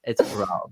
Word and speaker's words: Roald: the US premiere of Roald Dahl's The Enormous Crocodile, the musical, at Children's Theater Company. I just love saying his name now that I know it's Norwegian.